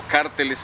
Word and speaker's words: cárteles: a organizaciones como los famosos carteles o cárteles, como se pronuncia en otras partes, propios, digamos, del desarrollo del negocio en América Latina.